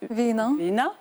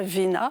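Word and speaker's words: війна: Alors, je vais peut-être vous laisser, Anastasia Fomichova, le prononcer en ukrainien. Ce mot guerre en ukrainien, c'est Vina. Voilà, Vina.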